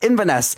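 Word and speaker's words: Inverness: Eden C Highlands evess even even in vaness in vanesse that's how you pronounce it norwi Theater Royal Marlo theater Canterbury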